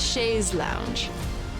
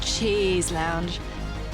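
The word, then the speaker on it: chaise longue: Pronounce Shea's lounge. More like cha lounge.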